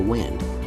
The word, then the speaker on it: Wind: You can also get a cheaper version of the RWD EV6 called the Wind. We're guessing that's pronounced like the breeze and not the thing you do to your watch, for $4,200 less.